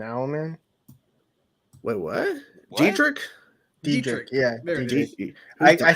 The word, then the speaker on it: Dietrich: Dietrich. I said Didrich.